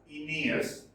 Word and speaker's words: Aeneas: It is pronounced as Aeneas, son of the goddess Aphrodite and Anchises.